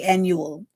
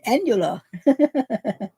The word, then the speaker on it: annular: No, I did not say annual. I said annular.